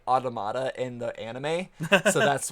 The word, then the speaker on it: Automata: initially see it as it looks like uh autona like how us Americans would say it but um they they directly say automata in the anime so